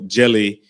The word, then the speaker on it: Djèlí: name of her father and um the middle jelly is the term that they use for um